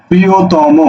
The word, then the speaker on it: প্রিয়তম: প্রি ও, ত ম করে মো, প্রিয়তম, বুঝা গেল?